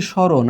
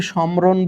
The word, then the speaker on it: স্মরণ: আমরা বলছি স্মরণ। আমরা কি সম্ররণ বলছি? বলছি না। মটা বাতিল হয়ে গেছে।